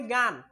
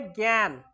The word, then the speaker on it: জ্ঞান: আমরা এটাকে সবসময় বলি গান, আসলে গান না, সেটা হবে জ্ঞান।